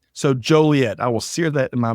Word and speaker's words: Joliet: tough spot for me uh all right so Joliet I sear that in my memory but um